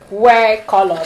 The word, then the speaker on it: WhereColor: So it's pronounced wear, like wear and color. It's just like wear. If you hear, you think it's wear, to wear something, but it's actually wear. Like where are you?